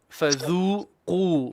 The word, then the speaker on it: فذوقوا: وكل شيء أحصيناه كتابا فذوقوا فلن نزيدكم إلا عذابا. Stop. فذوقوا, both long vowel.